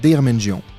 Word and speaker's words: Deirmenjian: Deirmenjian. On pense que c'est difficile à dire, mais ça n'est pas si difficile à dire, puisque ça s'écrit, ça se dit comme ça se prononce, comme ça s'écrit.